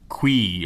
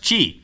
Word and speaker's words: Qi: built into the nexus 4 that's gqi not qui or qui pronounced qi we got to look it up to make